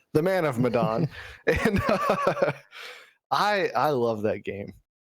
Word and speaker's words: Medan: I'm sorry, I always say it wrong because I like it when it rhymes. The Man of Medan.